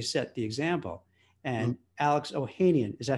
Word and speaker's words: Ohanian: And Alex Ohanian, is that how you pronounce it? Ohanian?